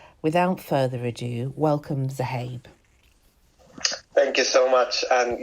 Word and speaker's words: Zuhaib: interesting talk so without further ado welcome to habe thank you so much and yes you pronounce my name absolutely perfect not many people